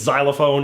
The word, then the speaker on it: xylophone: of the letters since xylophone is one of those words where X makes AZ sound instead of its standard sound in words like fox